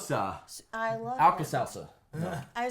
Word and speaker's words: Sousa: Before we get there, really quickly, I always pronounce his name right. Sousa, like John Phillips. Sosa.